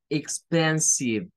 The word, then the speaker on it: expensive: Y es que nótese que esta no suena a E. Suena a una short I. Suena a una I corta.